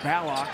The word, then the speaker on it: Ballock: That's right, Mitch Ballock. A change in the pronunciation for the Creighton star guard.